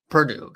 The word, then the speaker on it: Purdue: Purdue, that's how it's pronounced.